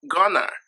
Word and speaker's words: going to: to work so much in spoken english going to is pronounced gonna which is a shortened form of going to but we don't use